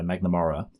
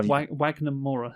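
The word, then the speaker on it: Wagner Moura: He hires the two hitmen to hunt down uh you know, the main guy, Magnamora. And that's why I got Did I say his name wrong? How Wagnamora?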